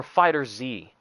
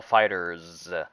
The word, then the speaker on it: FighterZ: a bleach muscle game is it called fighters or fighter z oh dragon ball fighters dragon ball fighterz i've been mispronouncing it this entire time my bad but i